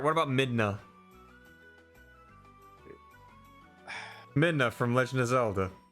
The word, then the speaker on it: Midna: Minda. Is it Minda or Midna? M-I-D-N-A.